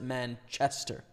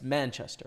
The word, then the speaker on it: Manchester: UK don't pronounce it Manchester. It's Manchester, right? The emphasis is on the first the first part of the word, whereas I feel like